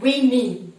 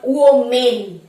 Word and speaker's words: women: Number 10 উইমেন, নট ওমেন।